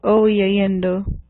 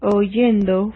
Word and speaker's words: oyendo: So to pronounce this, it would be le-iendo, cre-iendo, o-iendo. So to make it more pronounceable, what you do is you change the letter I to the letter Y in each case. So this one now would become leyendo. It's easier to pronounce.